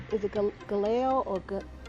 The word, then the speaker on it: Gehazi: You know it's Elijah's servant, and it's Gehazi, is how it's pronounced.